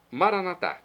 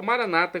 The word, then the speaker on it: Maranatá: Maranatá, como dizemos nós católicos, ou maranata, como dizem muitas pessoas que são das comunidades evangélicas ou protestantes. Não importa a pronúncia maranata ou maranatá, o significado é o mesmo.